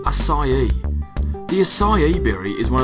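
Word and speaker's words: açaí: of the assai berry what is it it's pronounced assai the asai berry is one of the world's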